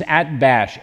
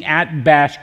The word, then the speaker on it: Atbash: And at the time of Ezekiel, there was a cryptography known as Atbash. A-T-B-A-S-H is the English pronunciation.